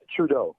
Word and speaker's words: Trudeau: name is john how you say his name trudeau trudeau how's king trudeau doing he's fantastic hey